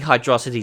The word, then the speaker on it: Hydrocity: by Rob 1986 Morrison and once again replacing hydrocity Zone yes that's how you pronounce it this mod mixes the original act